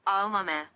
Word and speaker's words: Aomame: for green peas and pronounced with the same 4 syllables, Aomame.